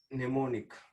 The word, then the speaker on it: mnemonic: MNO, mnemonic. Understand? So M is silent.